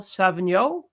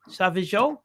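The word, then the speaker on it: Sauvageau: Hope I'm saying that right. Savjo. Uh, I was very impressed. I was very impressed with your pronunciation. I don't know if you're right, but I'm impressed. So, I just got to say the second pronunciation was correct. There's no N. There's no N in there.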